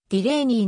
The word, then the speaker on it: Delaney: いるでアニーと表記されるが実際の発音はディレイニーの方が近い 1939 年にミシシッピ